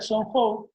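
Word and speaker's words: 中国: que define a China, la letra que define la palabra China, se pronuncia Songhou, ¿sí?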